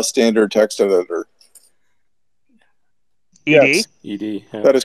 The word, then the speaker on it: ed: How do you pronounce the name of the standard text editor? ED? Yes. ED.